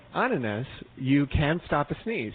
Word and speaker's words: ananas: However, if you use the Dutch word for pineapples, which he tried to help us pronounce, I believe it is ananas.